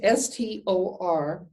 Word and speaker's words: Storge: It's spelled S-T-O-R-G-E, and it's pronounced Storge.